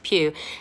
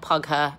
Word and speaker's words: Pugh: You say it like that, Florence Pugh. It's like Hugh, but with a P. No, it's not Pugher, and no, it's not Pooh.